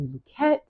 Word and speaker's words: Luckett: So you can say the Luckett Paradigm, but I started to do the real pronunciation of the name because the E was dropped. So the name is really, I think it has French origins, pretty positive. So it's really pronounced Luckett.